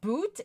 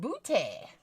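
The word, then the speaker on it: Crested Butte: no that's Eugene uh it's not pronounced boot it's pronounced booty Miss crusty butt if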